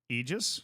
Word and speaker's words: aegis: right word of the day is Aegis AIS egis egis egis a e g i s Eis